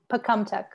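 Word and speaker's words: Pocumtuck: i love it and uh i probably totally mispronounced the the land you want to share yeah that's pecumtec land yeah yeah okay so um i want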